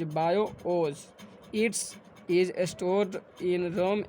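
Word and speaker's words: BIOS: बायोज इज़ pronounced यानी कि उसका उच्चारण जो होता है प्रोनाउंस्ड एज बायोज।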